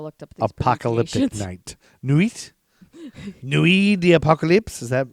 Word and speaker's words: nuit: the apocalypse how do you look up french pronunciations you just look them up like google them your mom googled all right newey all right i'll look up newey right now